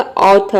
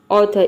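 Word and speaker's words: author: जब भी किसी वर्ड के लास्ट में ई आर आता है तो वहां पे हम इसको अ प्रोनाउंस करेंगे या फिर आधा र के साउंड में अर प्रोनाउंस करेंगे, पूरा र प्रोनाउंस नहीं करेंगे। या फिर यहाँ पे आर साइलेंट रख सकते हैं, इसको अ प्रोनाउंस ऑथर, ऑथर ये भी बोल सकते हैं।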